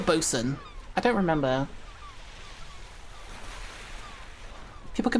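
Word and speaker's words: boatswain: Is it pronounced boat swain or bosen?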